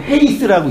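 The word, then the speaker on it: εἷς: 에이스인데, 이 모음 기호인데, 하나가 뭐냐면, 에이스의 강식이라고 헤이스라고 읽어요.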